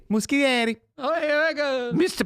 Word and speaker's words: Muschietti: So Machete. Muschietti. Muschietti.